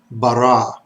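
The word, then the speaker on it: ברא: let's start with this word top left the pronunciation is bara bara notice the dots the dog and Laney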